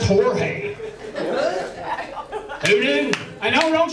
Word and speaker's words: Jorge: me yeah turns out he's Mexican said it's pronounced Jorge who knew and know don't you go judge